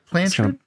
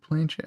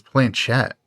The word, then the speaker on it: planchette: Is it placard or planchard? Is it planchard? It's gonna bother me. I don't know. Hey, frequenters of the Ouija, let us know how to say it. Is it planchette? Oh, it says it's planchette. Planchette. Okay, so we were both wrong.